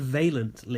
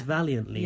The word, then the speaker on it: valiantly: Didn't she say valiantly? No, she said valently. Oh, I think she just mispronounced it. She means valiantly, right?